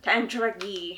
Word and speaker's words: Tandragee: to say this wrong, Tandragee? You gotta say it like an Irish person. Tandragee.